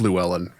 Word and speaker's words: Llewellyn: We should say, I think his name is pronounced Llewellyn. Llewellyn? Robert Llewellyn. Yeah. Like No Country for Old Men.